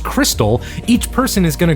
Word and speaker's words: Xtal: In Xtal, which is apparently pronounced crystal, each person is going